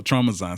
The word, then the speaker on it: Traumazine: Is it Traumazine? Is that how you pronounce it? I think it's Traumazine. Oh, Traumazine. See, I'm thinking Trauma plus Magazine.